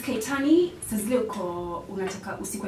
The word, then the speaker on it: Kaittan: It's Kaitani.